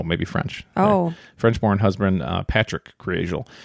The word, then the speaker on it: Patric: Frenchborn husband, uh, Patrick Creel. Some people said um his name was pronounced Patri, but I think it's Patrick.